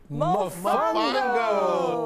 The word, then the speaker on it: Mofongo: You say Cleveland Mofongo.